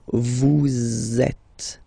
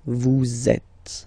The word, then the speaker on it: vous êtes: So in that case, vous is ending with S, and then you tend to make a little link between them. So vous êtes, z, it goes like that. Vous êtes, okay?